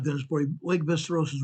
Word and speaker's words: Västerås: It's pronounced Västerås here.